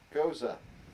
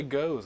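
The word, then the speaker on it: Gose: gonna ask, like I clearly know the answer to this, but how do you pronounce that? Goza. It's a Yeah, it's Goza. I would say goes. I thought it was goes. No, it's Goza.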